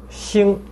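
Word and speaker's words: 心: The Xin radical on the left, and then Xing on the right, that's star. So that's the pronunciation. Xing, heart, pronounced as Xin, and that star pronounced as Xing. So a minor difference there.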